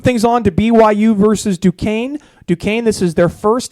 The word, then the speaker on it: Duquesne: Kind of like Novocaine, but it's Duquesne.